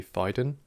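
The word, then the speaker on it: Phaidon: you're interested in architecture and just generally actually fiden uh that's how you spell it p-h-a-i-d-o-n they're a really interesting publishing house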